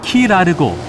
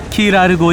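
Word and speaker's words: Key Largo: 제일 먼저 도착하는 곳은 키 라르고 가장 큰 섬이다 킬은 섬이라는 뜻의 스페인어 까이 오해 영어식 발음 이라고 한다 으 키 라르고 있는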